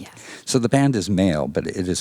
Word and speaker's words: Mhaol: So the band is Mhaol, but it is spelled M parentheses Haol.